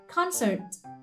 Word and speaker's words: concert: Tiếp theo, buổi hòa nhạc, concert. Concert là một danh từ trọng âm nhất này.